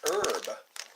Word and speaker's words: herb: Just like herb. You don't say the H.